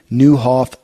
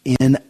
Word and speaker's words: Nieuwhof: a podcast, real popular podcast called the Carey Nieuwhof Leadership Podcast. Lead like never before. And his name is spelled Carey. And the last name, too, will take you a little, it's Nieuwhof.